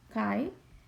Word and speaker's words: chi: is a Greek letter Chi we pronounce this like high there are actually many